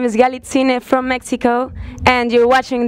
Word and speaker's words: Galitzine: And tonight I'm talking to Galitzine.